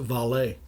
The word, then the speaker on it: Vale: rio tinto bhp and also veil or as they may pronounce it valet and as you said